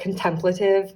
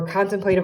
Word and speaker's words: contemplative: eroticism, a more contemplative, and yes, that's how I pronounce this word, okay? I feel like most people say contemplative, but Merriam-Webster says that my way is valid too.